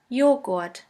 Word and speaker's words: Joghurt: The letter J is pronounced like the Y in the word yogurt. The German translation for yogurt is Joghurt.